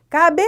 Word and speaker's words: cabelo: Então, cabelo, você não fala cabelo, cabelo. Não, sílaba mais forte. E vamos falar das paroxítonas e ela é paroxítona e você vai descobrir por que ela não tem acento.